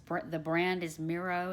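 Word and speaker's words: Mirro: for about $80 it's for the brand is miro it's spelled MIRR oh it does not have it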